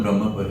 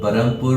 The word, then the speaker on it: Brahmapur: ब्रह्मपुर actually हम लोग क्यों बरमपुर इसको बोलते हैं? लेकिन रगारगों में फस गया है वो चीज़ है हमारा। एक्चुअली सिटी का नाम ब्रह्मपुर है। बट बरमपुर बोल ब्रिटिश नाम है।